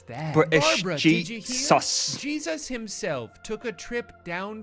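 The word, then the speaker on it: Jesús: my name is Jesus Jesus Christ guys it's pronounced Jesus it's a common mistake but it's Spanish name is pronounced Jesus I like your Ro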